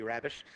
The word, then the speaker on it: Rabbitte: While Rabbitte, according to the quote, Deputy Rabbitte, properly pronounced, urged caution at the conference, he did